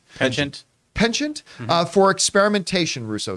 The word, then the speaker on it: penchant: has a pen I never know how to pronounce this word pension chant penchant penchant for experimentation Russo says uh there are questions